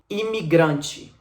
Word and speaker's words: imigrante: Eu quero dizer que eu falo imigrante. Imigrante. Esse T no final é marcado pelo E. Então é a letra E que tem som de I em sílaba átona no português.